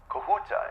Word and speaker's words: Kahuta: it's going to the kahuta plant okay kahuta is that the correct pronunciation am I saying that right yes okay great pz had